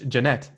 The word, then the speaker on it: Janett: right interesting okay well thank you very much Jeannette that's how you pronounce it yep all right have a good